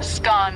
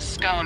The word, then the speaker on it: scone: the pronunciation of scone both scone rhyming with gone and scone rhyming with bone are accepted pronunciations though Regional variations exist what can you tell